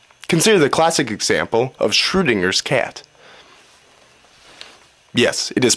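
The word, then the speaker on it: Schrödinger: have major consequences consider the classic example of shringer cat yes it is pronounced shringer my cat has been locked in a room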